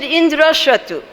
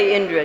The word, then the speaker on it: Indra: sanskrit name but he said something a little bit wrong indira inder so he said indira tiny little difference in the pronunciation in sanskrit and as a result